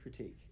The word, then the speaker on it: critique: Weak rhymes with critique.